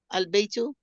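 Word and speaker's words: البيت: Alif of Al is pronounced only when it is not preceded by another word. It is proceeded by a word. If it is proceeded by a word, it is dropped in pronunciation. Though it remains in writing. Example, al-baytu. Here the alif is pronounced, but if it is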